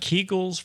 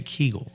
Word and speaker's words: Kegel: for men that sounds like a hair product kegels for men what's a Kegel so Kegel you spell that k-e-g-e-l okay Kegel now I after looking